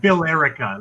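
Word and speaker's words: Billerica: It's spelled like Bill Erica. It's like America, but with Bill.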